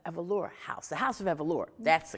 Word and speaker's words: Evoluer: Now tell our viewing and listening audience about the Evoluer House, the House of Evoluer. That's the correct pronunciation.